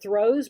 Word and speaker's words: throws: Emphasize the S on the end of throws, but don't emphasize it so much that you're saying throws. Okay, you don't want to emphasize it that much to where you're giving it another syllable.